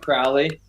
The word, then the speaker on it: Crowley: Liam Crowley felt like, or pronounced like "ow."